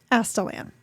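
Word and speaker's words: Astelan: Thank you, audiobook. Now I know how to pronounce that name. Astalan.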